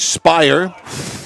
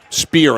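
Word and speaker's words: Spier: behind the net gauge spire and that is wide spear actually is how you pronounce his name SP p i e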